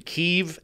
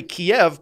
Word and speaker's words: Kyiv: last week is there's this now distinction between Kyiv and Kiev. Oh, Kyiv we went to that fire. The Russian word for the capital of Ukraine, Kyiv being the Ukrainian capital. And my position is I say Kyiv because I'm from America.